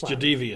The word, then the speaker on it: Jadeveon: Although his father today was in the media, he says that the actual pronunciation is Jadeveon. It's Jadeveon.